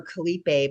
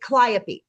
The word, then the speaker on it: Calliope: I always want to call her Calliope, but I know that's not how you pronounce it. Calliope.